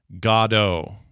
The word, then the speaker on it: Godot: It says it is Godot, like Godot, like God-O, like Godot.